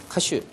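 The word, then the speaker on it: 歌手: 가수인데 우리는 가수인데 얘네들은 가슈라고. 가슈. 그래서 유명한 가수 그러면 뭐라 해야 돼? 유메이나 가슈 이렇게 하면 되죠.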